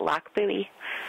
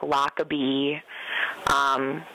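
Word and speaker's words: Lochbuie: You just pronounce it Loch Buoy. I hear a lot of Loch Buoy, pronouncing the CH, or things like Lockabee, Loch Blah.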